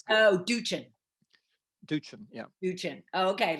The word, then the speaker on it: Doochin: No, my brother said it that way. I say Doochin. I say it the hard one, so it's good. Oh, Doochin.